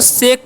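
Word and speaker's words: shake: आपको सेक पढ़ना है ए भवेल है उसके बाद के कंसोनेंट है और लास्ट में ई है यानी कि भवेल ही है तो पहले वाले वल का उच्चारण होता है ऐसा अगर आपको कॉमिनेशन कहीं पर मिले तो आप ऐसे इसका चरण जो है ए का ए ही उच्चारण होगा ठीक है तो इसे हम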